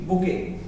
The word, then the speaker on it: bouquet: ठीक है, बुके किस वजह से क्या लिखा, BOUQUET, बुके, इसको बुके पढ़ते हैं। ठीक है, बहुत सारे स्टूडेंट इसको बकेट बोल देते हैं, कुछ बोलते रहते हैं, इसका राइट प्रोनाउंसिएशन क्या, बुके, T is silent here.